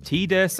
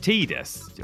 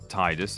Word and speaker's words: Tidus: We're sticking with heartwarming couples for the moment as we turn our attention to Yuna and Tidus. Or Tidus, if you want to get wrong pronunciation about this.